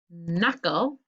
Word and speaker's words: knuckle: so nat is gn knuckle those are your knuckles on your hand is kn schooner is just n